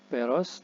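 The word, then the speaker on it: Pērōz: Peros, nah jadi PYLWC ini dibaca peros.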